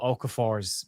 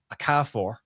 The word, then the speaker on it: Okafor: the weekend on the watch along on Noah Okafor's pronunciation because Robbie Elliott on commentary for TNT kept pronouncing it Okafor.